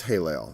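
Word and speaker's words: Helel: a long a like in italian e is pronounced a i is pronounced e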